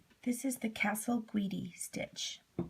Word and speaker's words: Casalguidi: this is the castle guidi stitch it's also called the raised stem stitch it's an italian word and it's spelled c-a-s-a-l-g-u-i-d-i so to begin with the first